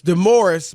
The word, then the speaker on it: DeMaurice: this dumb morris d-u-m-b-o-r-i-s-s now his name is spelled d-e maurice it's demoris but it's spelled d